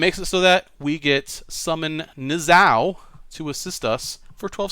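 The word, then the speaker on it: Niuzao: Alright, so I think I pronounced that correct again. Nizao. Again, I like to call him Nuzio, but I've been told it's Nizao. I like to call him Nuzio, though.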